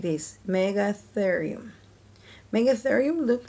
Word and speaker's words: Megatherium: Megatherium. You say it like this, Megatherium.